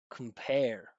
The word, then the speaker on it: compare: Computer compare. Look at my mouth movement. Right? I'm not just making the the the stress syllable bigger with volume or pitch. I'm literally amplifying it with space.